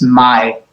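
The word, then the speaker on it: מאי: And we'll pronounce this, and I'll just tell you it's my. That's a yud at the end, a silent aleph.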